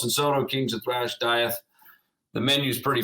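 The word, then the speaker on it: Dieth: got another side group I believe it's pronounced death right uh diet what diet all right yeah cool I've been pronouncing it wrong the whole time yes exactly put the eye is down right yeah yeah diet the Lucid uh you've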